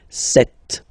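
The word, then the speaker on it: sept: all right then here remember B is not pronounced okay doesn't exist so you got this set sound set set okay then here final T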